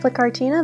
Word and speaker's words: Flytte Kartina: I'm here with Flytte Kartina. That is my YouTube channel. That's how it's pronounced.